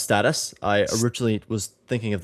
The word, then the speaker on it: Stateus: I I've kind of given up, but status is the correct pronunciation, actually.